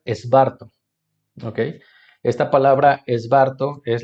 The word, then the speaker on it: Svarto: La palabra que está detrás de la palabra evangelio es esta expresión aramea que se pronuncia esbarto.